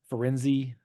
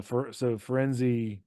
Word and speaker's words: Firenze: Firenze. That's Yeah. that's what I said. Firenze. Yeah, that makes sense. It's like Fire in Z. Yeah. So Firenze then rescues Harry Potter and Malfoy and drags them out of the forest.